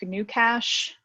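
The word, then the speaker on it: GnuCash: source options there is some program called new cash uh and it's spelled with a g a little weirdly i'll put it in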